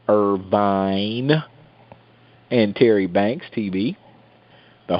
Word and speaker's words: Irvine: I got to say it like that, Irvine.